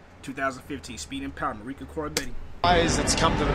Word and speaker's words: Koroibete: 2015, speed and power, Marika Koroibete.